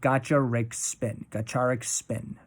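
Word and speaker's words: Gacharic Spin: Band name is pronounced somewhat like Gacharik Spin.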